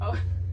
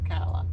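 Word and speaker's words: Ocala: are at a rester just south of Okala Oka Okala Kevin's always calling it Oka because everybody else seems to but it's actually pronounced aala yeah it took us about 3 three and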